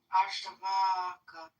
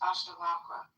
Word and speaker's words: Ashtavakra: Ashtavaka. No, there's no K, so it's Ashtavakra.